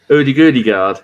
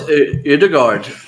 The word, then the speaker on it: Ødegaard: Oh, yeah, because I thought I pronounced it like the correct way. Odegaard. That's how you say it. No, it's Odegaard.